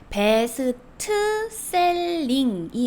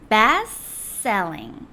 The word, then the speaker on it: best selling: 여기서의 발음 포인트는 베스트 셀링이 아니라이 베스트의 틀을 발음하지 않으시는 거예요. best selling.